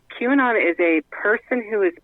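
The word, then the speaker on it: QAnon: all of this stuff who or what is Quon okay Q an on Q and on is that what it's how it's pronounced q andon q and on okay q and on Q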